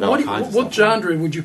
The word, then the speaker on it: genre: What genre would you call that music? I was listening to videos. Did you just say genre? Genre. Genre. Genre.